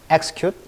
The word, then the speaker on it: execute: EX 발음이 강세에 따라 달라져요. execute, executive.